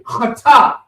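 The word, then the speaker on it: חטה: Cha. It's almost like I don't know if you've had a throat hurt before when you go, you're trying to throw, but this is the cha, so chata.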